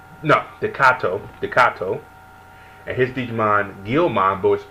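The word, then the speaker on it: Takato: You have the main character with Dekoya, I think his name is. Let me say his name right. No, Dekato, and his Digimon Guilmon, voiced by the great Steve Bloom, which I thought was hilarious.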